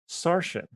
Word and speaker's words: Saorisen: Sarshan, what is your favorite spell? My own name. Your name is a spell? Yes, it's spelled Saorisen. Sarshan. Isn't that like Saracen or something? Don't be racist. Sarshan.